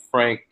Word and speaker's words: Frank: But then they just draft Frank, and I'm going to struggle with that last name.